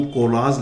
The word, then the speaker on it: college: जो होता है वो कोलाज लिख देते हैं। ये कोलाज जो महाविद्यालय है जहां पढ़ते हैं वो ये कोलाज नहीं होता, AGE नहीं होता, वो होता कॉलेज, COLLEGE, सही प्रोनाउंसिएशन कॉलेज, कॉलेज।